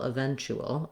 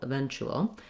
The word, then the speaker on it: eventual: eventual so my letter u and my t together say the ch sound and an oo sound like the word chu eventu and then i just have a dark l at the end that has a little bit of a schwa sound before it so we can see the schwa and the l eventual eventual then finally eventually i'll